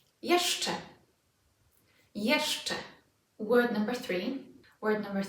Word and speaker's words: jeszcze: We'll have jeszcze. So again, let's split it into 2 and say it from the back.